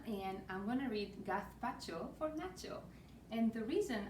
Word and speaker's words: gazpacho: hola i'm elena and i'm going to read gath pacho for nacho and the reason i say a